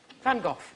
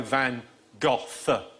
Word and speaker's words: Van Gogh: Van Gogh. We're after... How is it? Well, I'm going to go Van Gogh. Van Gogh.